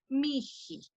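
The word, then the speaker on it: mihi: Entonces queda miji, ahí como una J, miji. Así se pronuncia el dativo, ¿no?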